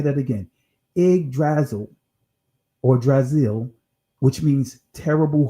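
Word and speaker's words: Yggdrasil: right I know the why but it's actually pronounced IG drazzle all right and this IG drazzle it means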